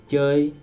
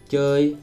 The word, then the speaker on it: chơi: So you get that sound if you say O, and then you relax your lips. As in chơi, to play, chơi.